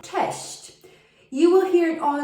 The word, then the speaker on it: cześć: to say hi but it is very difficult to pronounce it because it has the polish double letter it also has the polish letter shi and chi that are quite hard to pronounce in such a short word test majority of the time when i hear expats tell me chest i often don't understand them because they don't pronounce it right test you will hear